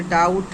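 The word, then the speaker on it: doubt: हमने इनके बर्ड्स दिए जैसे बी जहां यहां भी पर जैसे डाउट है, डेट है, लम है और आपका क्लम है और आपका प्लम है। तो यहां पर सभी में बी बी और बी और बी आपका यहां पर क्या है? साइलेंट आपका अल्फाबेट है।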